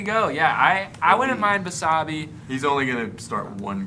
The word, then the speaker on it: Basabe: I can never say his name when I Basabe? need it. Yeah, whatever Ethan just said. Ostavis Basabe.